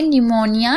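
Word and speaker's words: pneumonia: यहां यहां पर देखिए निमोनिया यहां पर आप देख रहे हैं पी साइलेंट है पी के बाद एन है याद रखिएगा इसीलिए साइलेंट है और पी के बाद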